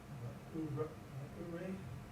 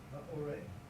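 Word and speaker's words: מְאוֹרֵי: Ma'urei. It's not Ray, it's Ma'orei.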